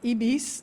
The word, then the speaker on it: Ibis: on the left is called ebis in French it's Ibis and the other one